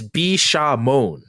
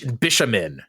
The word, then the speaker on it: Bishamon: actors kept saying bishin it's bishamon it's not Bish bishin I mean come on